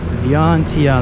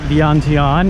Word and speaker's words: Vientiane: I think it's 3 syllables, so I gotta Vientiane.